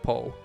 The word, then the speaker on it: Po: Paul I'm pretty sure Poe is pronounced Poe it's not pool they're not gonna name